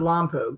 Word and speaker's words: Lompoc: I pronounce it Lompoc. That's how my parents pronounced it. Okay. Except it's spelled with a C, not a K.